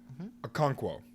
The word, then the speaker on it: Okonkwo: open quo open quo so I practice this it's chigozium Okonkwo a conquer I looked it up and I listened to somebody pronounce it because I'm like I'm